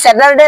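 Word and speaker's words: Saturday: স্যাটারডে হবে না স্যাটারডে এখানে আর আছে যে এই আর এর উচ্চারণ হবে না কারণ হচ্ছে আর এর পরে যদি কনসোনেন্ট থাকে পূর্বে যদি ভাওয়েল থাকে তাহলে আর উচ্চারণ হয় না তাহলে এটা কি স্যাটারডে না হয় স্যাটারডে স্যাটারডে আবার স্যাটারডে সানডে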